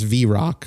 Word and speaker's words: Vrock: Yeah, this says V-Rock, so Vrock is pretty natural.